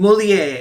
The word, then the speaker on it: Molière: Molière. Molière. Okay, I know how to pronounce things in French.